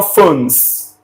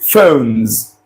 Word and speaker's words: phones: This S at the end is not articulated. No, it's not phones. It is phones. Z.